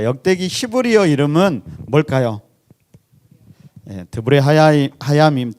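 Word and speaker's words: דברי הימים: 드브레 하야밈, 드자가 좀 이렇게 발음이 힘든 것 같아요. 그래 D라고 하는 게 더 나을 것 같아요. 디브레 하야밈.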